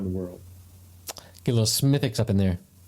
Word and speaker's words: Smithwick's: Get a little Smithix up in there. Smithix. Well, Schmittix. It's spelled like Smithwick's, but it's not pronounced that way.